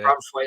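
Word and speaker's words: Branthwaite: Is that how you pronounce his name? I think he's Braithwaite. Yeah. Braithwaite, that's it.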